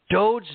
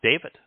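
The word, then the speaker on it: דוד: Look even at Dowd's name. They call it David. Dowd has meaning. Look up Dowd. It means beloved. Mm-hmm. David doesn't have any meaning. And by changing the pronunciation of the wa, which conveys the O sound in Yahweh's name, to a V, is it doesn't exist.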